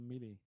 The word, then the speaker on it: melee: Manon Mars is asking, will all units have the ability to go melee?